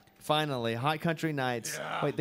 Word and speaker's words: Hot Country Knights: In studio now with Hot Country Nights. Yeah. Here they are, finally. .com. The K is silent. Finally, Hot Country Nights.